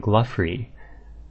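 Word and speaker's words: Glouphrie: There's Glau and Glaufrey from the Gnome Quests, and they pronounce them Gluff and Gluffrey.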